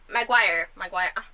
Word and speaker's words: Maguire: Maguire.